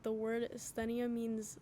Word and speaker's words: Asthenia: At first, when I remember first hearing the album, I always thought it was, like, anesthesia, but it's Asthenia.